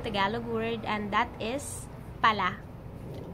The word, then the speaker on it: pala: have another untranslatable tagalog world and that is Paula Paula Allah Allah is used to express being surprised